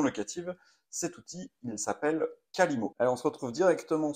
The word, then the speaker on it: Qalimo: Cet outil, il s'appelle Kalimo.